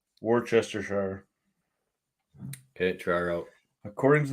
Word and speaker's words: Worcestershire: to the Merriam-Webster Dictionary skip pronouncing the r altogether and the CE while you're at it and barely say the second or start the word off saying Wooster and then finish off the British Shire Worcestershire hmm all right